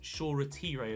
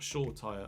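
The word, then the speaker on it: Shoretire: retiree is in and it is pronounced sure retiree as well not sure Tire apologies to those uh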